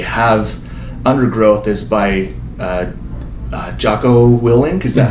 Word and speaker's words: Jocko Willink: quote that you have under growth is by Jocko Willink.